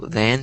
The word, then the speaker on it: than: So the way you pronounced it sounded like Dan. A little, not completely, but a little bit. Like it was very subtle. So than sounded like and then sounds like den. That's how a lot of people pronounce it, but it's it's like than and then. So it's the TH sound that's kind of difficult. It's not a D, it's then, than.